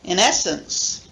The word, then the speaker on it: in essence: So number 1, in essence, you notice this, the main stress falling on the second syllable. In essence.